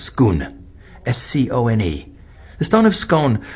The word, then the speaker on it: Scone: But even in Western tradition, if you check out an interesting little item, it's called the Stone of Scone, which is actually pronounced Scone, S-C-O-N-E.